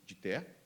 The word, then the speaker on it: Gitea: It's called, I don't know how to pronounce that in English, but it would be like Gitea, like Git, this one.